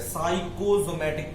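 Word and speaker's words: psychosomatic: पी यहां पे silent है, साइकोसोमैटिक problem, stress related problem.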